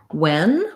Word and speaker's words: when: So when's a little more straightforward. IPA is going to be like this. With this letter E, we call that the red tent vowel. The only difference, maybe you might write it like this to think about getting that vowel sound correct, and that the WH letters just say the W, one sound like W.